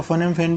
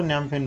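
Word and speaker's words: Phnom Penh: इसकी राजधानी न्याम फेन ये कभी कभी पी से स्टार्ट होता है तो फम फेन भी कह देते हैं बहुत सारे लोग बट पीस में साइलेंट रहता है तो नम फेन बोलते हैं उसको ठीक है फिर बीपीसीएल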